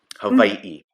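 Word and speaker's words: Hawaiʻi: called an okina and the w is pronounced like a v hawaii yeah and and i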